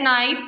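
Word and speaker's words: knife: Which of the following word has silent letter? इनमें से किस वर्ड का जो है वो साइलेंट लेटर है? कैट, नाइफ, dog, bird. इसमें बी आपके पास क्या है? बी ऑप्शन जो है वो करेक्ट है। नाइफ। उम्मीद है आज आपको लेक्चर समझ आ गया होगा।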